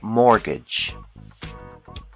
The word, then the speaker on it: mortgage: buy a house we call this loan a mortgage the t is silent mortgage another common loan is a student loan